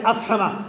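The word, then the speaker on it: اصحمہ: حبشہ کے بادشاہ اسحمہ صحیح تلفظ ہے اسحمہ، لوگ اسحمہ پڑھتے ہیں، صاد کے اوپر جزم ہے، اسحمہ، بادشاہ اسحمہ شاہ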